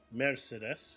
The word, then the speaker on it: Mercedes: they kind of uh in German they kind of elongate the r a little bit more Mercedes yeah make it sound